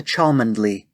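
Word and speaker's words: Cholmondeley: is not really vanessa chalmandly i knew it it's supposed to be pronounced chumly right that's not the point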